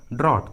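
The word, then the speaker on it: drought: अनुसार, ट्रिक के अनुसार यहाँ पर जी और एच का उच्चारण नहीं किया गया है, जी और एच साइलेंट है, जी और एच का आवाज़ नहीं आ रहा है। थॉट, ड्रॉट, उसी तरह ब्रॉट, हाइट,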